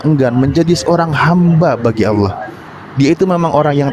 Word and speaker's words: Allah: di sini Kenapa menyebut Allah gitu karena memang pelafalan didikannya seperti itu karena di situ adalah apa namanya Abdul jalalah gitu kan ada lam di sana yang tebal nah Masalahnya kalau masalah